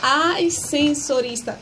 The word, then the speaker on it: ascensorista: É ascensorista. E não se pronuncia assim não, tá? Eu só pronunciei para enfatizar como é que se escreve.